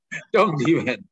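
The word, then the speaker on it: 东帝汶: Terus yang ini kita ada Tong Ti Wen. Tung Ti Wen. Tong Ti Wen. Nah, lo. Ini ngaco ya yang Timur Leste nih. Dong Diwen.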